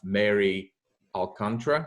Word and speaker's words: Alcantara: And I'm really, really excited today to have Mary Alcantara.